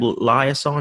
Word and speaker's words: liaison: start from there, or be a local rehab liaison. Is that how you pronounce it?